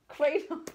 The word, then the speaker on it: Kratom: I'm telling you, but there's an R in there, woman. Kratom.